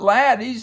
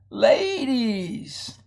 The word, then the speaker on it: ladies: that's a good question well if you count the consonants you only got one so we're going to divide the syllable there and it's not lattice it is ladies ladies and gentlemen ladies and you know that because you know the doubling rule constant doubling we didn't double the consonant so the vowel is